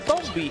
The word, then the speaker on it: Tomba: Raikou, it's pronounced Tomba actually.